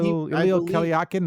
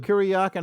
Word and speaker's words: Kuryakin: Ilya Kalyakin, how do you say his name? What was his Ilya name? Kuryakin.